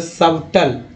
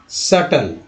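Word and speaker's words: subtle: अब देखिए यहाँ पर सबटल नहीं पढ़ेंगे, क्या पढ़ेंगे, सटल, ठीक है सटल पढ़ेंगे, सटल।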